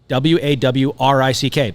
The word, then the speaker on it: Warwick: like Warwick is WAWRICK. But you say, oh, I'm from Warwick. Yeah. Warwick. Time out. Where'd the second W go?